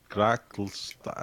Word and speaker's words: Grackelschlag: Grackelschlag. That's how you say it, roughly. Gracklesta. Schla. It's Staka. not schla, it's stuff. Staka.